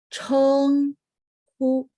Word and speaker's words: 称呼: 称呼. 称呼. Gitu ya. 称. CH masuk ke dalam kolom. Sehingga bacanya ada angin gitu ya. Nah, terus lidahnya diangkat karena ada H.